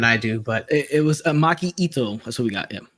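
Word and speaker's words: Maki Itoh: Okay, you say it better than I do, but it was Maki Ito.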